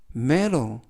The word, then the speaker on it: metal: 코트를 샀어라는 뜻이 되겠습니다 이번 표현은 매도 메로 이라고 발음하시면 되겠고요 이때 유의하실 점은 알파벳 t가 여느미에 의해서 트가 아니라 그리고 알파벳 a가 2번 단어에서는 묵음이라서 발음이 되지 않습니다 그래서 메로라고 발음하시면 되겠고요 품사는 명사 뜻은 금속이라는